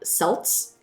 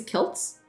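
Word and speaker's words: Celts: think I think I think it's said Kelts right it's not selts I think it's Kelts it it is spelled no it's spelled Kelts but it you say with a kind of with a K Kelts you say Kelts instead of Cs you find a better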